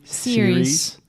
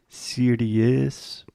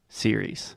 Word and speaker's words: series: to say something like Siri is because we have the IE at the end but the correct pronunciation is simply series yes and then second